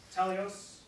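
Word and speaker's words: τέλειος: And so, the word perfect, the Greek word, teleos, I'm pretty sure I'm pronouncing it right.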